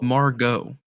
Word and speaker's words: Margot: not saying her name right I'm not oh Margot right her name is like Margot it's pronounced Margo Margot Robbie go go go Google